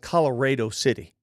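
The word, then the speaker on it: Colorado City: in in Texas and it's pronounced color City not Colorado color City kids are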